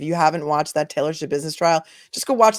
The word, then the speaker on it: Schabusiness: Shabusiness. It's spelled SCHABUSINESS, like it sounds.